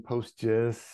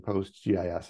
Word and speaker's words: PostGIS: you will know that I swing back and forth between saying post J and saying postgis and that's totally fine and normal there is no there is no canonical pronunciation just just use whatever feels best on your tongue it's uh it's not